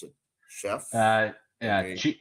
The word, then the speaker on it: Scheaff: Chef? Yeah, Okay. it's like Scheaff, like Yeah. chief with an S.